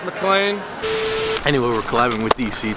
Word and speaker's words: McLean: to me the entire game I called him MacLean it's pronounced MacLean anyway we're climbing with DC today it's going